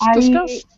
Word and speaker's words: discussed: Pronounced like a t, but spelled ed.